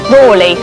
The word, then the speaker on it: Raleigh: day this that one people also pronounced differently didn't they rawley yeah but today we